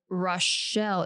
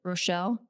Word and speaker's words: Rochelle: a young boy while visiting his grandparents in Rashelle, Illinois. That's guaranteed not even how you pronounce it. Rochelle, Illinois.